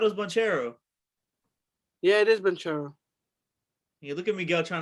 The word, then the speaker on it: Banchero: Yeah, it is Banchero. Yeah, look at Miguel trying to say that. That's not how you pronounce his name.